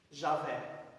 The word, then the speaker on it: Javé: Como o Y, para nós é vogal, mas em hebraico é consoante, equivale ao J. Como que lê isso aqui? Javé.